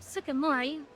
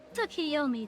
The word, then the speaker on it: Tsukiyomi: Although I wouldn't be opposed to, Sukimori. Did I say her name right? Oh no. Tsukiyomi, that's what the name was.